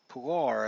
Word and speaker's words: Kevin Pillar: Pilar, I believe, is how it should be pronounced.